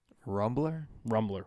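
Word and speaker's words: Rumblr: Rumbler? It's spelled like Tumblr, but it's called Rumbler.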